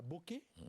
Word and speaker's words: Boké: Vous êtes né en Basse-Guinée, à Boké, c'est exactement comme ça qu'on prononce.